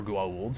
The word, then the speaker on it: Goa'uld: They can't decide in that show whether they're going to pronounce it Gould or Goa'uld, so they just go back and forth constantly.